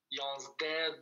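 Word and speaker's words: yazdeh: Alors là, le H à la fin, on n'appuie pas trop là-dessus. Hein. C'est comme si c'était un H muet, presque. Yansde, Dwazde. À l'oral, on le prononce pas trop.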